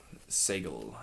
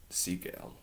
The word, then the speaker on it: Seigal: Seigal, I think that's how you pronounce it. Seigal, not Steven Seagal.